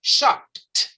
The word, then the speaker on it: shopped: acá cuando dice shop, ese es último sonido, que es una P, con salida de aire fuerte, allí no hay vibración. Usted dice shop. Entonces, ¿cómo pronuncia ese pasado? Usted dice shopped.